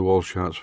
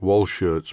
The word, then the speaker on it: Walschaerts: And there are quite a lot of moving parts in the Walschaerts valve gear. I think I've got the pronunciation right. I always call it Walschaerts, but I think it is actually pronounced Walschaerts.